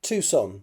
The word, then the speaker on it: Tucson: That place that's pronounced differently to how it's written. South of Phoenix. Was that you I spoke to before? Um, Tucson.